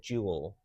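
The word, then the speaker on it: Joule: It's a a little place called Jewel. What's that? Uh, which is it's spelled J O U L E. J O U L E. Jewel.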